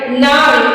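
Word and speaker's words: gnarl: एन ए आर एल नार यहां पे देखिए जी शुरू में ही आ गया है तो जी को नहीं पढ़ेंगे सीधा नार बोलेंगे जी के बाद वाला साउंड प्रोनाउंस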